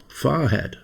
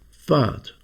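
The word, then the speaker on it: Fahat: Oh, Farad, said the doctor understanding. No, no, no, said Floreshine. It's pronounced fart.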